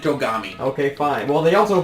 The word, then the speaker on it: Togami: gommi they pronounce it kogami in the anime the quran topography well the anime is wrong and here they pronounce it togami okay fine well they